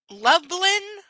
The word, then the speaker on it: Lublin: Lublin. And no, I'm not mispronouncing Dublin. It says Lubland. L U B L I N was a lot smaller than Warsaw.